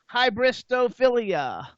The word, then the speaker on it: hybristophilia: Let's first talk about hybristophilia. Yes. Is that how I pronounce it?